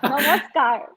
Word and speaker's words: namaskar: Did I pronounce it good? Very well, very well. Namaskar.